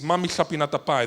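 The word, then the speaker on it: mamihlapinatapai: The language is Yagan from Tierra del Fuego in Chile, in Argentina, and the pronunciation is Mami Chapinatapai. The ch is like in Welsh, like Pink Floyd, double L, right?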